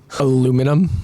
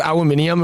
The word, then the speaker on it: aluminium: Aluminum. Yeah, aluminium. Caramel. Yeah, aluminium. Caramel, pecan. Everyone says aluminium and we're like, aluminum. Yeah, where's the extra I?